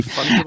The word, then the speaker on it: fungible: Come on, fungible, as in fungus, maybe, Fungible? and Fungible, fungible, I think. yeah, It's a hard G.